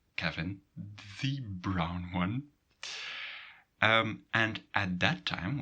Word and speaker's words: Bruyne: Bruyne was written with U and Y, and officially it has changed in U and I to say brown.